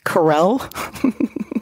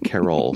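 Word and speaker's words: Carole: many uh s-bombs are software bills and materials Corel Carol sorry I am so careful about pronouncing your name right and the one time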